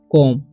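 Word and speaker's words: comb: ठीक है एम बी बी का उच्चारण नहीं होगा तो इसे हम पढ़ेंगे कोम ओके यह बात आपको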